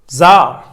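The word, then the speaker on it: czar: जार जरीना, अब जार का जरीना, पहली बात तो ये सी साइलेंट है।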